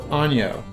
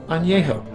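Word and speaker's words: añejo: multiple times in the video it is not pronounced ano it's pronounced ano just to save you some typing in the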